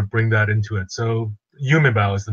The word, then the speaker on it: Yumebau: Okay, the name is Yumebao. So it's actually made of two words. Yume means dreams in Japanese, and bao like Bauhaus.